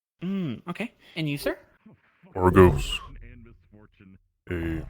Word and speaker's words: Argos: Argos.